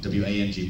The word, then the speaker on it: Wang: My last name is Wang, W-A-N-G, pronounced Wang. The reason why W-A-N-G is Northern China, W-O-N-G is Southern China, but it's all pronounced the same. So it's not Wang. Only in America do the people bastardize the A, you know, unfortunately.